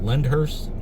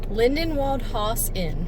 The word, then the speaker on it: Lindenwald Haus Inn: Lyndhurst? Lindenwald Haus Inn. Did I say it right? Lyndhurst. I thought it was Lindenhaus. Lindenhaus. We're going to fact check here. Lindenwald Haus Inn. That's it.